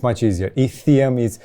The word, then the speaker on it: Itheum: even better than us but the way you pronounce it is ethium okay so uh do you mind if we call it item in romanian it's much easier ethium is like okay where does it come from